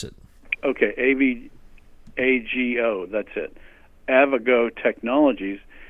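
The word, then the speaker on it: Avago: that company a vehicle I believe it's called a vago a V they pronounce it okay av AG o that's it a vago technologies and then a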